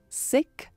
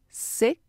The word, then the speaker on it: sixth: Como essa palavra é um pouco difícil de pronunciar dentro de uma frase, tem gente que pronuncia sixth, sixth, sem o S do X. Sixth, sixth.